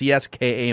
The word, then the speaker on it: CSKA: capricioff has a legit offer from is it pronounced cska moscow yes correct is that what we're doing